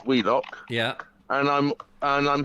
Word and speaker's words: Wheelock: is spelt wheel lock oh willis but it's pronounced wheelock yeah and i'm and i'm heading towards middlewich